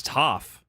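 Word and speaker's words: Toph: Is it tooth? Like toffee? It's tooff. Okay. See, I I don't know anything about these characters. Rhymes with cough.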